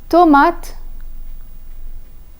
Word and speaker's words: tomate: An E at the end of a word is nearly always silent. For example, in the words le, tomate, téléphone, bibliothèque.